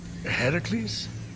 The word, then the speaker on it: Heracles: are you doing there that thing with your voice Heracles yeah that that is how it's supposed to be pronounced seems like a lot